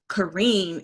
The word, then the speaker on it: Kareen: My husband has this saying that when he heard people calling me Karen, he said, "Not Karen, that's sad. Kareen, if you smile, you'll pronounce it correctly."